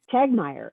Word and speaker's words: Tegtmeier: We didn't practice your last name, but I'm going to say Tegtmeier. Did I get that? Did I do that? Okay? Second T is silent. Okay. Yep. Tegtmeier.